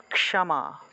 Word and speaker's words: ক্ষমা: তারপরে ম যোগ আকার তাহলে উচ্চারণটা হবে ক্ষ্যামা ক্ষামা এইভাবে ক যোগ মূর্ধন্যস সাথে ম আকার ক্ষামা উচ্চারণ হবে ক্ষমা কেমন তারপরে তাহলে এটা